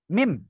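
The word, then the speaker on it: ميم: এই যে দুই ঠোট দুই ঠোটের বাইরের অংশ থেকে এই যে বাইরের অংশ থেকে চার আলিফটা নিয়ে উচ্চারণ করতে হবে কয় আলিফ চার আলিফ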